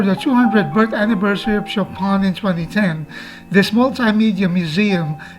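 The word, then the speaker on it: Chopin: Chapan museum is spelled as Chapin but they pronounce it Chapan refurbished for the 200th birth anniversary of shopon in 2010 this multimedia museum is one of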